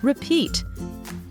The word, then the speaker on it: repeat: long sound repeat and the word is also stressed on the second syllable repeat can you repeat what